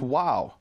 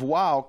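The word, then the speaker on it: واو: they would speak Arabic Arabic doesn't have a v sound but when and it has that letter the letter VAV exists in Arabic and it's pronounced wow and in fact the pronunciation of wow comes from Arabic I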